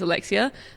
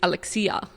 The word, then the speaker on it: Alexia: Or you could say Alexia, which is also Alexia. the like Australian way to say my name is Alexia. The Greek way to say my name is Alexia, because there's a Alexia. accent on the I.